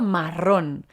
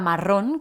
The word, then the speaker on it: marrón: es un color aquí la palabra marrón con acento en la o es un sinónimo de